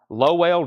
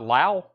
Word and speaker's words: Lowell: uh 53 and pronounced this is pronounced Lowell George not Lau wow just like last